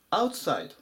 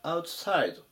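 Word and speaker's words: outside: 行きます 782 番アウトサイドまたはアウトサイドどちらでもいいですね先ほどのインサイドと同様ですこちらのアウトサイドで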